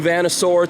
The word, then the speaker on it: Vanasaur: New Vanasaur T-shirt. That's how you pronounce that.